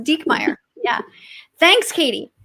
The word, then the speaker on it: Diekmeyer: my last name and you spelled it right and it's pronounced dekmeyer yeah thanks katie how